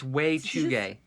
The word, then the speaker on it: Wechuge: It's Wechuge. Wechuge. Way? Wechuge. There's no Y in there. See what I mean? The C is silent.